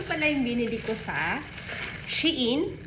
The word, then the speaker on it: Shein: So, ito pala yung binili ko sa Shein, or yun ang alam kong pronunciation kasi Shein, but ang correct yata na pronunciation nito is Shine.